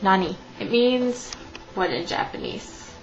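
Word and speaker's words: なに: for instance another good word would be like Nani it means what in Japanese like a question so in English it looks like it might be something like n but it's not it's Nani and the a is pronounced like it is awesome and the ey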